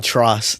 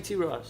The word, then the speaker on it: T Ross: I love how he keeps saying truss. Like I just love that. Like just purposely getting his name wrong. Trust. It's actually T Ross.